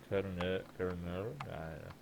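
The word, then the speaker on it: Caernarvon: WZ said, Carnarvon, I cannot pronounce that, how are you pronouncing that? Carnarvon.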